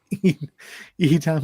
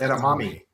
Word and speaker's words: edamame: And Edam is my favorite. Say that again. Edam, is it Edam? No. I don't got know. slagged once for What is mispronouncing it? it. It's Edamame.